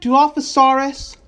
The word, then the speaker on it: Dilophosaurus: Jurassic Park, but he got devoured by a Dilophosaurus. Did I say it right? Dilophosaurus?